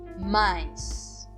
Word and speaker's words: Mais: significa em alemão milho mais também pronuncio como a i kais kais o a